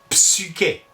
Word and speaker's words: psyché: classique, Platon et compagnie, articulaient U. Psychologue a été formé à partir du grec psyché, qui signifiait l'esprit. Et on dit bien psyché.